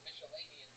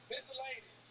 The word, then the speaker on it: miscellaneous: I'm saying that right? Now you are. Yeah. I'm saying it right, nigga. You fixed it. You said Michelinian twice. Miscellaneous. Yep.